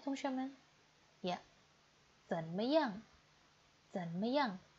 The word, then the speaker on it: 怎么样: Zanmetu, bagaimana bacanya teman-teman? Ya, zanmeyang.